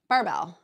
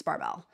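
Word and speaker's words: Barebells: you say it which per the usuge I'm mispronouncing it bebell I was calling it bebell earlier it's barbell barbell bebell I was saying it wrong my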